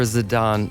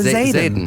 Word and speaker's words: Zayden: Patreon lighthearted stinger for Zidane? For Zayden. Zidane. Sorry, I always say that because it's spelled like that a little bit.